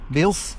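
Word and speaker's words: Builth: Bil B U I L T H is how we pronounce it apparently was how we spell it.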